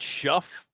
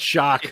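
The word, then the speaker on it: Shough: Is that the way you say his name? It's not Shuff. No, it's Shock.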